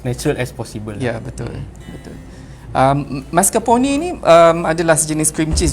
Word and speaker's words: mascarpone: Mascarpone from Italian. Tapi orang Melayu kita panggil mascarpone.